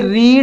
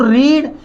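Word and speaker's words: read: ये रीड है, इसकी थर्ड फॉर्म एग्जिट है, जो कि तो रीड केवल अंतर होता है तो प्रोनाउंसिएशन का अंतर होता है। फर्स्ट फॉर्म में इसको रीड पढ़ते हैं, सेकंड फॉर्म में इसको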